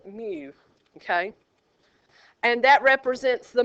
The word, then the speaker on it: mu: called me it's m it's spelled mu mu but we pronounce it Mew okay and that represents